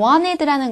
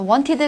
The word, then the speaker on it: wanted: to talk to you wanted라는 것은 이거죠 앤 다음에가 나왔으니까 발음이 죽었습니다 그래서 wanted 아니라 wanted wanted 발음하시는 거예요 당신을 이야기하고 싶었습니다 I